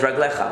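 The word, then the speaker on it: רגליך: foot because of Shabbat, even though it's written without a yud, we pronounce it as raglecha. We read it like it has a yud.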